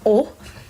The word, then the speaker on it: o: O here, as in show. So show, pronounced as O. This, I know you see O and another O, but this here is pronounced as O. This letter is pronounced as O, as in pa, wa, all, right?